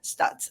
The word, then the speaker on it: Stutz: Today we have with us Jonathan Stutz. I hope I'm pronouncing your last name right.